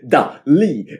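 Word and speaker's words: Dalí: over and over again, Dali. And I'm saying that way because that's how the name is pronounced over and over and over again in this film.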